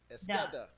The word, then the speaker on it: Esqueda: Actually, just had to spell it out phonetically, and I say it's esqueda, like H-SKEH.